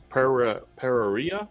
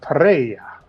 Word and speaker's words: Pereira: Is that Pereira? Is that how you pronounce it? It's Pereira. Oh, of course. I didn't roll my tongue.